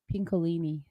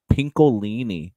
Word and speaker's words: Pincolini: how do you say your last name pinkini pinkini yes with uh did you hear Dallas this